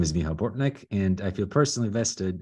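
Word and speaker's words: Michał Bortnik: Our next speaker is named, I apologize in advance for pronunciation, Michal Bortnik. You may now speak. Thank you for such a great pronunciation. Good evening, everyone. So my name is Michal Bortnik, and I feel personally vested in this project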